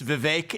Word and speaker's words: Vivek: for the longest time it's Vivek it rhymes with cake I'd expect someone of